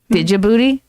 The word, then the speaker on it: Djibouti: Djibouti? There's no D. The D is there, but you don't pronounce it.